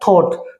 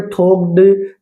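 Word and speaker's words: thought: देखिए टी एच ओ यू जी एच टी। तो ये आपका क्या बोला जाएगा? थॉट। तो यहां पे थॉक्ड या थॉट। तो यहां पे जी एच जो है साइलेंट हुआ और यहां पे ओ यू की साउंड आई और यहां पे आ गया थॉट।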